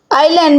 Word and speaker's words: island: " Island" में 's' silent है।